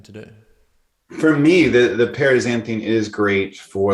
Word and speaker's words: paraxanthine: Paraxanthine. Paraxanthine.